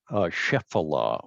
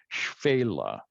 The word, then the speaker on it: Shephelah: pronounce that again well because people look at this and they want to pronounce it shephelah or something like that uh the modern israelis say fela and they're they're talking